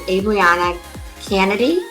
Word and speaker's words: Abrianna Canady: I'm your host, Amanda Russo, and I'm here today with Abrianna Canady. I think I'm pronouncing that correctly.